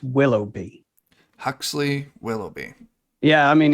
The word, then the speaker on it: Willoughby: So it's Willoughby. Huxley Willoughby. Yeah, I mean, if I just say Willoughby, most people, go like willow tree and a bee, and it's not how it's spelled.